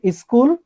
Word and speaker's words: school: they have that uh instead of school school they have e they will add most of the time they will add like that is cool like